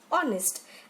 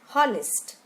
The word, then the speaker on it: honest: example honest h o n is T is pronounced as honest and not honnest now we move to the next stanza each